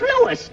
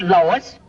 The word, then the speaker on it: Louis: the plant Lois Lois me name is Lewis not Lois je W everybody in topat me name wrong it's LS l o u i s Lois uh uh Louise